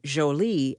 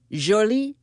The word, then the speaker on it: Jolie: My French-Canadian father chose the name Jolie and insists I retain its French pronunciation, so the J is soft and it ends in an E sound.